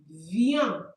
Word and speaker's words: viennent: And the last one we have il or elle viennent. Like this. Please, we don't pronounce the e n t at the end.